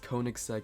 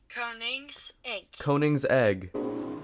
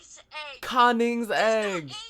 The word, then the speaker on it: Koenigsegg: keep on saying wrong I guess Koenigsegg isn't the right way to say that's the westernized American version of it so I will have